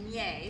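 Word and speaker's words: Minié: okay so in 1849 a Frenchman by the name of Minier that Americans horribly mispronounced his last name as many but at least we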